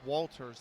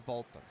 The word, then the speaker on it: Walters: I'm assuming it say by the way Bobby I'm assuming with Dutch the W is actually Walters. I'm assuming that's how you say it because I don't think it would be Walters like American. You know in an American I would look at that and say Walters and I don't think that's how you that's how it's probably pronunciated correctly. So, I'm assuming it's Valters.